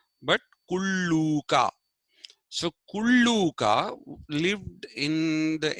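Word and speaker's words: Kullūka: you have to produ pronounce that as Ooh not as U not kuluka but kuluka so kuluka lived in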